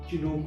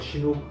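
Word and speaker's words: Chinook: चिनूक इज अ चिनूक और शिनूक अलग अलग लोग अलग अलग प्रोनाउंस करते हैं, बट इट्स an artificial intelligence tool.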